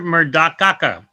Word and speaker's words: Murdoca: saying your name incorrectly you're never saying my name correctly how come you don't it's murdoca oh it's so much